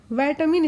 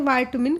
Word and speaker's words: vitamin: भाषा का शब्द है विटामिन इसको कहा जाता है अगर आप इसको शुद्ध उच्चारण करना चाहते हैं वाइट मिन किस भाषा का शब्द